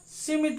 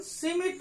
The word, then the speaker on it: Schmidt: यहां पर देखना सिमिट रिएक्शन। कौन सा रिएक्शन पढ़ रहे हैं अपन? सिमिट रिएक्शन, 4th नंबर का है।